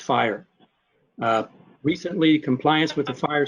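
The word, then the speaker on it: FHIR: fast healthcare interoperability resources standard initials f-h-i-r-r and pronounced fire recently compliance with the fire standard is a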